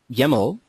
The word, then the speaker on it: YAML: The YAML, at least that's what our users tell me, that's how it's pronounced, it rhymes with camel, is a new file format which has become more and more industry norm.